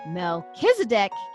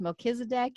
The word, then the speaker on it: Melchizedek: And Melchizedek, king of Salem, brought forth bread and wine, and he was the priest of the Most High God.